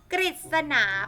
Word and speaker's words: กฤษณา: ก็ คือ ทำ ว่า กฤษณา เพราะ ออก เป็น เสียง ริ ส่วน น ฤ ดู